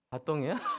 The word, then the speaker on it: 바통: 바통이라 그러나요? 빠통이라 그러나요? 예. 그거 바통 이렇게 하면서 해보셨어요? 정확한 발음이 뭐죠? 바통이에요? 네. 프랑스 발음 같네.